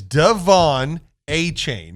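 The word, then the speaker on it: De'Von Achane: the show I remember that name is is Devon a chain is how it's pronounced I apparently still butchered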